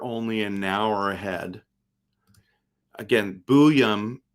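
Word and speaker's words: Buium: Again, Booyum is how you say it.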